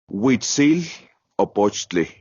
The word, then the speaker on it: Huitzilopochtli: How do you pronounce the full name again? Huitzilopochtli.